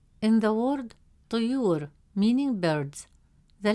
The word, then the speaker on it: طيور: As a result, the correct pronunciation of the word is durus, durus. Third example, the word طيور. In the word طيور, meaning birds, the letter ya has a damme